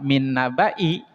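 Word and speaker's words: مِنْ نَبَإِ: Nah, berarti nanti kalau misalkan ada di surat lain ada lafadz min nabai, berarti bacanya jangan dipanjang tapi dipendek.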